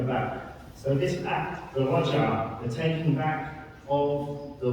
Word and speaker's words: Raj'ah: And this act of taking her back is called in Arabic the Raj'ah. And you can spell that in English as R-A-J-A-H.